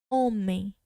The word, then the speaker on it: homem: A letra H, para ela não ter som, ela tem que vir no início da palavra.